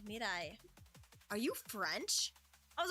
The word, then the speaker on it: Miraii: It's Miraii.